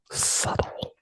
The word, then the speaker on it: subtle: it really is so subtle the be is silent and the word subtle Sub Sub Sub sub